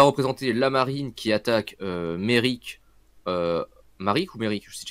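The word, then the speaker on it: Maryk: Elle va représenter la marine qui attaque Merrick. Maric ou Merrick, je sais déjà plus. Je crois que ça se dit Merrick en anglais, mais ça s'écrit Maric, donc je peux dire les deux.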